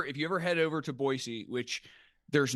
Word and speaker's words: Boise: of Boisey that you you drop a soft S. It's not a Z when you know, if you say it like a Z, they'll know you're an out oftowner. So, it's Boyisey.